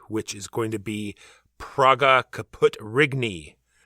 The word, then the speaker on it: Praga Caput Regni: is going to be Praga, Caput, Regni. Pronounced, I'm sure, exactly like that. Actually, you're pretty close.